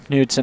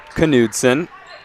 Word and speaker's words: Knudsen: of them coming from newton on her own i do have to apologize the name is pronounced knudsen normally we would be